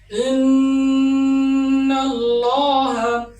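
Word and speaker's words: إن الله: যেমন ইন্নাল্লাহা। আল্লাহ শব্দের আগে জবর রয়েছে। এ আল্লাহ শব্দের লামকে মোটা করে উচ্চারণ করতে হবে।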